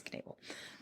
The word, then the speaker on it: Knebel: He worked as an apprentice in the tanning business of a man named Ferdinand Knebel. I'm pronouncing the K because it's German, because it's K-N. Okay. I think it's Knebel. Whom he lived with during his apprenticeship, which was also kind of normal.